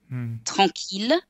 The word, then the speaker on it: tranquille: For some reason, the language evolved to say that ILL can be pronounced either il, or like in the exception, mille, ville, tranquille, and the words that come from it, million, milliard, etc.